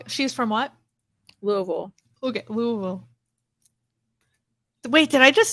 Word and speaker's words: Louisville: from Louisville oh she's from what Louisville okay Louisville wait did I just say it right you